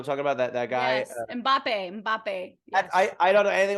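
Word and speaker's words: Mbappé: How do you pronounce it actually? Mbappe. Yeah. I was like, that to me is Hanson's song that came to life as a beautiful world-class athlete. Yes. Mbappe.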